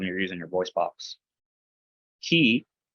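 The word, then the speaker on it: χῖ: Ki, it's like a, well, think of the word lock, CH. It's still like a KH sound, Christos.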